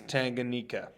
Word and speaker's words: Tanganyika: really struggle with this one I think it's Tanganyika all right I've heard it pronounced that well I struggling with like the